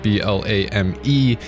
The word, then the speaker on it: Blame: Blame, or Blam if you want to get all technical, but it is spelled B-L-A-M-E. Nihei does call it Blame, a film which, with